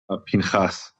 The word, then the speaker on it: Pinchas: Have I pronounced that correctly? Pinchas.